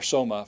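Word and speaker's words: σῶμα: All right, the next word, soma. Notice the stress is on the omega.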